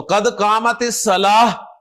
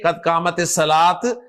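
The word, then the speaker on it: قد قامت الصلاة: तो कद कामत सलाह, हा के साथ प्रोनाउंस करें, कद कामत सलाह, ना के कद कामत सलात, कद कामत सलात।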